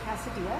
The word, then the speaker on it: Casa Dea: And I had the most amazing Pinot Noir yesterday from Casa-Dea. That's how you pronounce it, right?